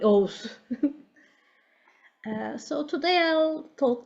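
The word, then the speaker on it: Oğuz: at my last name I have a silent G which is very confusing it's actually O's uh so today I'll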